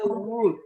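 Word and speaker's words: would: WULD itu is not baca wood. L-nya hilang.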